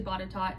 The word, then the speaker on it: Botetourt: then you have Botetourt, which sounds like Bordeaux if you read it the way that it's spelled out, but it's actually Botetourt, and people just call it Bot.